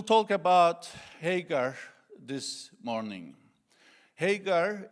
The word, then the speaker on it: Hagar: Hagar is that right? Hagar we in Turkish it's Hajar. So in English, excuse me if I pronounce her name differently.